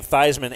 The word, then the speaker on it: Theismann: And they said, so they started as calling him Theismann as in Heisman.